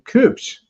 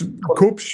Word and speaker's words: Kubsch: In the upper right of your screen is a gentleman named Sebastian Cooch. Am I pronouncing that correctly? Yes. Cooch. It's Koops.